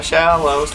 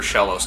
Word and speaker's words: Shellos: And maybe just into the ethos, what have to do for Shellos to evolve. It's spelled how it sounds. Yeah. Shell with an ass.